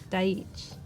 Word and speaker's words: Daichi: So the Behance link might be a little confusing because it's not Daichi, it's just Daich, which is how your name is actually pronounced.